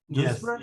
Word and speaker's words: Duisburg: That the way you pronounce it? Duisburg?